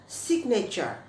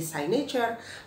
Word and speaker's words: signature: kata kerja teman-teman sign tapi kata Bendanya Signature ya bacanya bukan site Manager Saatnya jadi kita beberapa orang Indonesia merujuk ke Timezone baca kata Bendanya jadi sini cure Padahal saya menjadi Signature nah bahkan teknosain kemudian ada